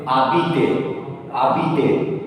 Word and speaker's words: habite: 90% verbs in French end with or. And all those 90% verbs ending with or, in that case or will make single sound A. So here we pronounce abite, abite.